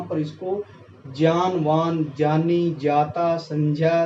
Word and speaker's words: संज्ञा: जहां तक मैंने सुना है, जिसे सुना है, संज्ञा बोलते हैं, जो कि गलत उच्चारण है, वाक्य में ही गलत है, अशुद्ध है वो।